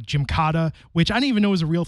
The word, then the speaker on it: Gymkata: I believe it's called Gymkata. Is that right? Did I mispronounce that?